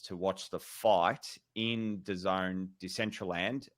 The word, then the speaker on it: DAZN: It's DAZN, but it's pronounced DAZN.